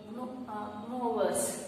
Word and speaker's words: gnawers: So those type of animals it is called as a gnawers. Okay, here G is silent.